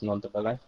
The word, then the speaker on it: Ndombele: a new signing was Nondabele. To say his name correctly, it's quite a difficult one Dombele. to. Yeah, it's a Ndombele, hard yeah.